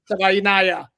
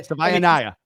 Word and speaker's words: Savaiinaia: Like Hawaii, but Savaiinaia.